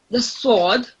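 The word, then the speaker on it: ص: The sword. It has heavy and thick sound, unlike the scene.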